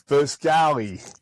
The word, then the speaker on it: Foscali: How should we be pronouncing it? It's Foscali. It's Foscali, yeah.